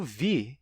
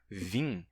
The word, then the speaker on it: vir: Acontece que, no infinitivo do verbo vir, não sei se vocês já ouviram, mas muitos falantes de português aqui no Brasil pronunciam o infinitivo não como vir, mas como vim.